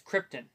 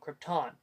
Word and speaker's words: Krypton: I have is that he pronounces Krypton wrong he says Krypton it's called Krypton yeah I mean he